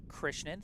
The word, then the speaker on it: Krishnan: And Arjun Krishnan telling me that my second attempt is the correct one. It is Krishnan.